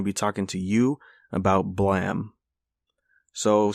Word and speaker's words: Blame!: that this is how blam was spelled in english i think that's that's what the story is and that's why it's spelled like this but it's pronounced blam last i checked and